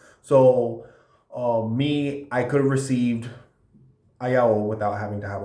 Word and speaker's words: Ayaó: Let's talk about the younger sister of Oya, whose name is Ayaó. Pronounced Ayaó. Emphasis on the O. Ayaó.